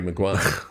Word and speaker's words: Maguire: Harry Maguire, yes. And rhymes with the Dyer.